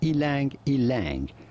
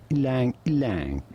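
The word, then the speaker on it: ylang-ylang: many say it as ylang ylang but in the countries it originates from it is pronounced something more like lang lang almost like the one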